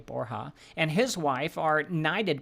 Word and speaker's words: Borja: former president of Ecuador Rodrigo borha which a Borgia b o RJ a borha and his wife are